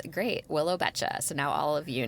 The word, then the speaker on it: Beccia: Um, so I just barely learned what her last name was and now I've learned how to pronounce it and it's great. Willow Betcha.